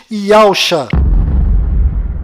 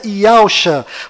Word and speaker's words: Yahusha: A pronúncia do nome de Josué deve ser Yahushua, e a pronúncia do nome do Messias é certamente Yahusha. Carlos, então você acredita que as pronúncias do nome de Josué e do Messias sejam diferentes?